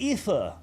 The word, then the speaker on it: Aoife: Sutters, Iofi is an Irish name, pronounced Aoife. Please, it hurts how you say it. Also Witcher. Iofi. It's spelled Iofi, and so it's going to be said Iofi.